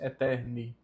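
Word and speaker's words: aeterni: Perceba que aqui não é a eterne, tá? O A está próximo do E, então ele fica mudo e nós só pronunciamos eterne.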